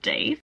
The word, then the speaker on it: Dev: Oh, also I have been pronouncing Dev's name wrong. It's actually pronounced Dave.